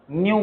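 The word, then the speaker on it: ν: इसको प्रोनाउंस करते हैं NU, न्यू प्रोनाउंस करते हैं, ठीक है, याद रहेगा।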